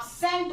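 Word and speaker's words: scent: देखो आप, इसे आप साइंस बोलते हो, इसे आप सेंट बोलते हो। इन वर्ड्स में ये जो सी है वो साइलेंट है ना, साइलेंट।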